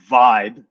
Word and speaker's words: VBE: refer to it uh as vibe that vbe we pronounce vibe to describe Vibe I